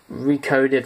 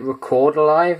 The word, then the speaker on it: Recoded Alive: Recoded Alive. I used to pronounce it Record Alive, and it's like, no, it's Recoded.